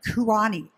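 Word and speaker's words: Kuoni: 2005, and affiliated with both American Express and Kuani. Is that how you say it? Yes. Kuani.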